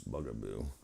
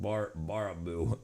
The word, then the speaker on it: Baraboo: Oops, bugaboo. How do you pronounce it again? Baraboo.